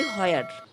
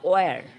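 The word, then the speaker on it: where: আমরা বলি হোয়ার, এর সঠিক উচ্চারণ হচ্ছে ওয়ার।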